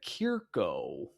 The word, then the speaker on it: Kierka: consult that again, and it's Amelia Kierko, or is it Kierka? Because it was Kierko based on last week's line chart at Wisconsin. Now it's Kierka. So that's like a different number of syllables in the name.